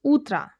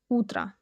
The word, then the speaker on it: утро: So they become some ah sound. We say utra. utra Your turn.